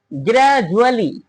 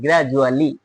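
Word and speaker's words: gradually: আগেও ভাওয়েল পরেও ভাওয়েল এখানে কিন্তু ডি এর উচ্চারণ জ এর মত হলো গ্রাজুয়েশন গ্রাজুয়ালি গ্রাজুয়ালি দেখো ডি এর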